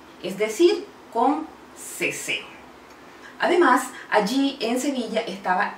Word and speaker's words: seseo: sur de España, las letras C, Z y S tienen un sonido similar a la letra S. Este fenómeno lingüístico se conoce como ceseo. Es decir, la C, la Z y la S se pronuncian igual.